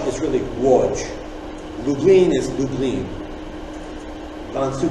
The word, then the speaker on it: Łódź: L in Polish, and the L with a line through it is pronounced as a W.